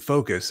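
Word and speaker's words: Fokoos: Oh, you pronounce it Focus. I was pronouncing that word differently. I think a lot of people were. There's no U in it.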